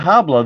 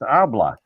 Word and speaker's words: habla: talks habla habla yeah no it's not hablo the hes Island it's abla and if you run